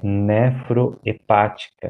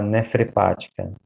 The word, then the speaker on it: nefroepática: Acho que é nefroepática, acho que é a palavra, e ele fala nefrepática. Nefrepática é diferente de nefroepática, né?